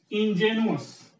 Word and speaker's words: ingenuous: Here this E is pronounced as A sound, ingenuous, and here this E is pronounced as E sound, ingenious.